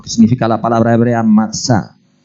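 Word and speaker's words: מצא: que desea lo que significa la palabra hebrea matsa o sea que lo que está diciendo la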